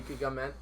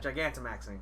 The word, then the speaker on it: Gigantamaxing: Like just to get to like your last comment with the Gigamaxing. yeah. Gigantamaxing.